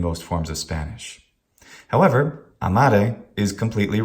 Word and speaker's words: amare: However, sometimes English and also Polish speakers, instead of saying amare, they will keep the stress on the syllable, but they will make it short. They'll turn it into a tribrac with the stressed second syllable and say amare, or tenere, or adire, or habere.